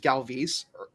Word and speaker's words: Galvis: Is that I found out this year his name is pronounced Galvis, and it ruined my life.